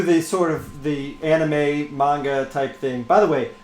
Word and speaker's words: manga: By the way, everybody in the chat room that's making fun of the way we say manga, we're saying it right. You guys have been saying it wrong.